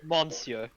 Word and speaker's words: monsieur: what's your mungy sir but it's got an n yeah and that don't mean monsieur monsieur the french speak with their mouths closed god i wish that